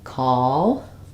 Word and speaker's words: call: they're the same so no call has the dark L and the a vowel call um and cow ow